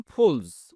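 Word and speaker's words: pulls: এর সময় এস যুক্ত করলাম ফুলস। উচ্চারণ কিন্তু বর্গীয় জয়ের মতো হবে। এই সাউন্ডটা হবে। হি ফুলস আ রিকশা।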